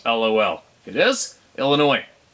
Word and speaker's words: Illinois: your humility it's pronounced Illinois the S is silent LOL it is Illinois it's like people call